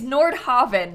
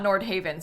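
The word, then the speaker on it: Nordhaven: to love this also it's Nord Haven not Nord Haven so I've been saying it wrong I guess that makes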